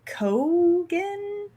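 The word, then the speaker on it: Keoghan: said fade ralpha um barry kogan is that how you or something yeah yeah yeah cogan i think yeah we're about to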